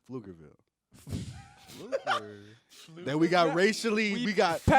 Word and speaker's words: Pflugerville: All right, Pluckerville. go ahead, man. P is silent. It's Pflugerville.